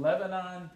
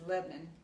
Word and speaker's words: Lebanon: all right I'm in Lebanon Tennessee that's Lebon Lebanon I'm saying it wrong I should know better but anyway I'm in